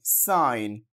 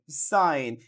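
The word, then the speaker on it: sign: যেমন সাইলেন্ট জি rule G এন জি এন যদি পাশাপাশি থাকে জি উচ্চারিত হয় না খেয়াল করুন এস আই জি এন সাইন এস আই জি এন সাইন সাক্ষর বা চিহ্ন এখানে কিন্তু জিটা উচ্চারিত হচ্ছে না ডি ই এস আই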